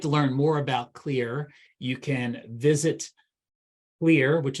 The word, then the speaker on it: Kleer: I want to make sure that I thank clear for introducing group Dentistry now to Samantha she's